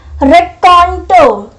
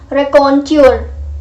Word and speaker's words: raconteur: I have written is raconto. Raconto. Okay, the pronunciation is ra. Okay, ra. Raconto. Raconto. We don't pronounce it like raconteur. Raconteur जो है वो गलत pronunciation है. The correct pronunciation is raconto.